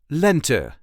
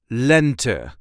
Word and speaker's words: lente: with spring which is Lent in Dutch lent the emphasis is on the first part of the word lent Len lent lent the second season